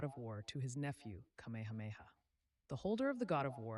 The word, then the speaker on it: Kamehameha: Um, the guy portraying Kamameha. Kamehameha. Oh, duh. Okay. I know how to pronounce it, but reading it was weird.